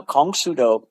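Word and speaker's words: Kong Soo Do: shodokan which was called Kong sudo now Kong sudo that's the Korean pronunciation of the idiograms for Karate Do Kong sudoo same thing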